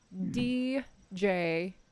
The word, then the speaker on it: Djimm: His name is Jim. I was gonna ask. His name is Jim. It is spelled DJIMM. Yes, like much like a gin. It is a gem. Djim. Yes, Djim. Silent Djim sound.